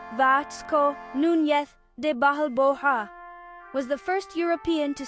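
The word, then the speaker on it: Vasco Núñez de Balboa: Vasco Nunes de Balboa pronounced Vatco Nunth de Bahal Boha was the first European to see the Pacific.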